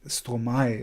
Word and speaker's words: Stromae: lot of people are drawing um that was Stromae is the pronunciation right um yeah so love to see